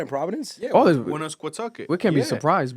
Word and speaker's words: Woonasquatucket: I cannot pronounce that river, bro. Woonasquatucket? Okay, this is worded out. Woonasquatucket? It's Woonasquatucket.